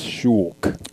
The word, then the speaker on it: Shulk: And gotta say, the correct pronunciation for this is Shulk. Okay. It's not Shulk.